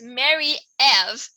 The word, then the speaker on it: Marie-Ève: It's like, vote for me, like M-E, because my full name is not just Marie, it's Marie-Ève, for those who don't pronounce it Frenchly. Not gonna say correctly, who's for those who don't say it Frenchly.